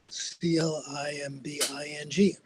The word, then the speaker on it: climbing: What about CLIMBING, climbing? B is silent there.